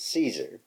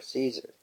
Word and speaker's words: Caesar: When we look up what we say is Caesar, the correct pronunciation, the C is not a S sound, it is a hard sound, which is K.